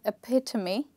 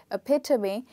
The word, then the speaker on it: epitome: And here, the stressed part is the second syllable, okay?